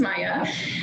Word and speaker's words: Maya: My name is one of the least phonetical that I have ever encountered, so it's pronounced Maya.